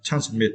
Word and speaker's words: transmit: Okay, and for the final words, we need to understand the words transmit, right? Transmit, and for this words, we need to stress the second syllable, mid, yeah.